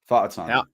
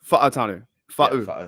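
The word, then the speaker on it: Fautanu: Fa'atanu. Fa'atanu. Like that. Like quick, like real quick. Basically like how you and I would say the F word, but like get rid of the CK and add Tanu.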